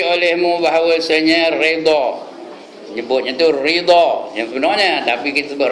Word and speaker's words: redha: Saya pun terus nak nyebut ridha, kena sebut redha juga lah.